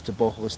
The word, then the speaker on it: Teboho: Can't laugh the way some commentators pronounce Teboho's name, same way as you pronounce pogo stick. Well, yeah, but I pronounce it correctly. It's Teboho.